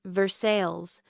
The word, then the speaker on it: Versailles: Greaves was retired now, living in a small town outside Lexington called Versailles, which in Kentucky is pronounced Versailles, because Kentuckians do not believe the French should have the final word on anything.